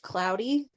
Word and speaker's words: Claude: feeling that okay so his name is spelled Claude but it's pronounced cloudy which bothered me by